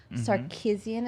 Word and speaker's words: Sarkeesian: As previously announced, Mary-Kate Morrissey will star as Janice Sarkeesian.